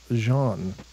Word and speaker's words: Jean: French after all is Jean that's pronounced the same way as Jean of jean-luc Picard fame for the Star Trek